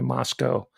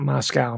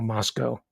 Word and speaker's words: Moscow: That's how it's pronounced, by the way, Moscow. Rhymes with Costco. Not Moscow, Moscow.